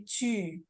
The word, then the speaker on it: 去: Itu biasanya juga banyak yang salah, bacanya ku ya, bukan ku tapi cu.